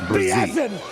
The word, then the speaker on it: Brian Brazee: Okay, so it's more of like a Z instead of an S sound. It's Brazee.